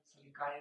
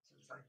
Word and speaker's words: sulci: So both correct, gyri or gyri, sulci or sulci, both are correct.